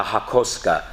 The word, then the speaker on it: hakosuka: nissan skyline this is referred to as a hakosuka hakos h-a-k-o-s-u-k-a is the proper pronunciation you'll hear it pronounced many different ways